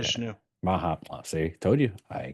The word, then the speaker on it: Mahavishnu: Their musical taste, Frank Zappa, Harry Nilsson, The Beatles, and I never pronounced this right, but Mahasvinu Orchestra. I think I maybe I Mahavishnu.